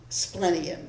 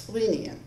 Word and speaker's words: splenium: pronunciations um the vowel the first vowel could be a short sound or it could be a long sound so I went with the incorrect pronun pronunciation which was um splenium the correct pronunciation is spian and um but that's